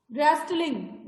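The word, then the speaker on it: wrestling: रेस्टलिंग, रेस्टलिंग में क्या silent है?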